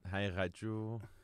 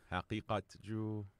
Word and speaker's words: Haqiqatjou: Yeah, you can pronounce it Haqiqatjou, Haqiqatjou. All of them.